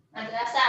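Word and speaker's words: مدرسة: Madrasatun itu madrasah bacanya tak marbutoh, betul.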